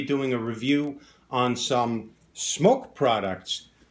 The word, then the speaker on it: SMOK: going to be doing a review on some smoke products pronounce smokes mock they've been around for years